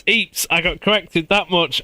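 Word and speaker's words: Ypres: Wait, you actually pronounced Eeps correctly. Who are you? Or what have you done with Hey, I had three playthroughs of me saying wipers or wipers or whatever. Right, it's Eeps.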